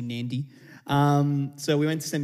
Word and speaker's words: Nadi: There is a hidden N in Nadi. Apparently, when the white people came, they just couldn't, so they just said Nadi, but it's actually Nandi.